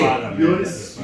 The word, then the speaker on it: Yonice: My name is, in Somali, you pronounce my name Yonice. Yes. Yeah, I call you. You know what? Just do that. I can't pronounce the other name. No. But it's Yonice, you know. It's like in Arabic